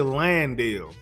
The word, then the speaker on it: Landale: Everybody be saying his name wrong. I don't understand why it's so hard to say Landale.